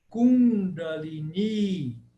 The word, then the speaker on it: Kundalini: você vai verini Pini o primeiro i é breve e o segundo i é longo ele tem um traço em cima por isso que se fala Kundalini Kundalini Ok então existe